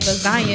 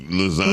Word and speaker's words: lasagna: Because if you think about it, it is silent. So with Miss Rhea, like lasagna, because it ain't in there. She said, "You gonna hear the G in lasagna?"